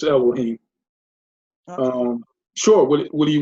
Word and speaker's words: Elohim: Well, in the Sefer, it's pronounced, I don't have a Sefer, but it's Elohim.